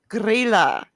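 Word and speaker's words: Grýla: Icelandic Christmas which called guerrilla now it's spelled gr y la with that little accent thing above the Y so it's pronounced gorilla but I'm not capable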